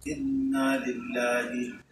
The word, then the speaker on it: ইন্না লিল্লাহ: জন্য আমাদের যেহেতু সবসময় এই আমাদের পড়তে হয় ইন্না লিল্লাহ, ইন্না এক আলিফ টান আছে এখানে, ইন্না লিল্লাহ, নিশ্চয়ই আমরা সকলে আল্লাহর জন্য, আমরা সবাই আল্লাহর জন্য, আল্লাহর গোলাম, আল্লাহর বান্দা।